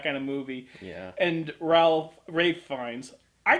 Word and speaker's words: Ralph: And Rafe Fiennes. I call him Ralph because his name is Ralph, but if he prefers Rafe, fine, I'll play his little game. Wraith Fiennes. Rafe Fiennes.